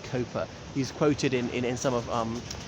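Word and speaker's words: Cowper: I know it's pronounced Cooper.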